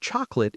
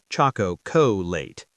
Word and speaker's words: chocolate: And chocolate is also classic. Yes, pronunciation tip. Chocolate often sounds like chocolate, 2 syllables. Chocolate, not choco-co-late.